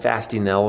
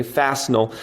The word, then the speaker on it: Fastenal: the belt on wednesday i can never pronounce this company's name right okay i call them fasting l okay fastenal uh huge a huge